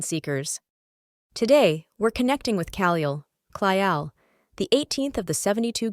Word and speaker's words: Caliel: Name, Caliel, pronounced Caliel.